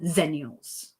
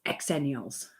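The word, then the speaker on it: Xennials: extenules and I like Excel Nails not zenials Americans say zenules I'm from the UK there's an X in there so it's X annuals okay so there's that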